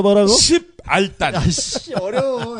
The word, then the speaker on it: 십알단: 십알단. 아씨 어려워. 시발단이 아니라 십알단.